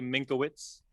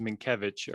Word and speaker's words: Minkowitz: your last name so my last name is minkowitz my i say minkowitz so basically it's in poland i guess it would be pronounced minkevich or minkovich and that is not for american ears easy to say or learn so minkowitz there you